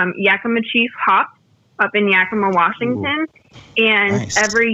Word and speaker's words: Yakima: we partner with Yakima Chief Hops up in Yakima, Washington.